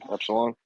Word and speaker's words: epsilon: brick in this room is it pronounced EP epil EP Epsilon that's Epsilon now all of this